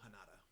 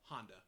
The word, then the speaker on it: Honda: sorry his name again is Shiro hanada hanada oh Honda I was about to say it's my screen's too far away I thought it was Honda it's interesting uh especially